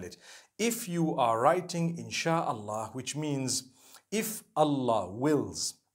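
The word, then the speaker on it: إن شاء الله: if you're writing it in the arabic language the correct way of writing it is three separate words so in sha'a allah and when you're saying it you say insha allah okay so i'm writing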